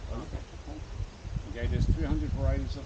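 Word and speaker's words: ʻape: It's spelled A-P-E, pronounced api.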